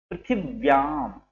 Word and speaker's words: पृथिव्याम: पृथिव्याम, यहाँ पर देखेंगे पृथ्वी में था पूरा है तो पृथ्वी पूरा बोलना है, फिर व्याम, और व्या के ऊपर या के ऊपर बिंदी है तो उसको हमें आधा मा की तरह उच्चारण करना है।